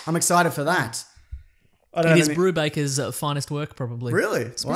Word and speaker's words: Brubaker: it though yeah yeah I did say it wrong in my own defense just like I do it's Brubaker Brubaker to the end and it's about a